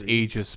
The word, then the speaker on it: Aegis: Igus is definitely the mascot. You should pronounce Aegis, but the the localizers screwed it up.